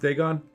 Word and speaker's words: Dagon: do you know why why it's pronounced Dagon because if you try to read the card your whole day is gone foreign any time